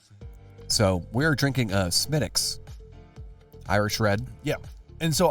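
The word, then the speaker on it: Smithwick's: the idea of not Smithwick SMI SMI there's no h um although it there is an H there is it but it's not pronounced with an h no yeah um I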